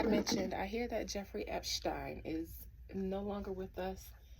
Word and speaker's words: Epstein: specific to call him Epstein. Epstein is like the American way to pronounce it, and I feel like it was a pet peeve for him to be called Epstein when it's Epstein.